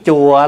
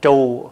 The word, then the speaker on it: chùa: hết nói chữ chùa chữ chùa là mình nói trại đúng ra mình phải phát âm là trù bởi vì chữ trù